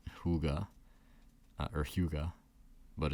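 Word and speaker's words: hygge: but also yeah but from what I understand it's hyuga but it is a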